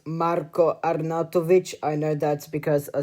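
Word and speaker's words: Marko Arnautović: It is actually pronounced Marco Arnatoic.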